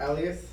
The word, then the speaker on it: Elias: But what do you prefer? I prefer Elias. Elias. So I'm saying it right.